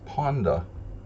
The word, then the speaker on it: Ponda: He's spelled like pawn, and in Hungarian, when you say the word Ponda, it's not panda, it's Ponda. So it sounds like it would be written Ponda.